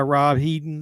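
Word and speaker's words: Rob Hedden: ready to go this movie was directed by Rob heeden is how you pronounced his name um it came out in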